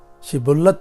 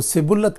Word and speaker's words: شبلت: اگر وہ جواب دیتا نہیں تو وہ اس سے کہتے شبلت تو بول، تو وہ سبلت کہتا، کیونکہ اس سے اس کا صحیح تلفظ نہیں ہو سکتا تھا۔ تب وہ اسے پکڑ